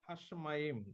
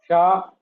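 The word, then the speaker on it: השמים: Hashamayim.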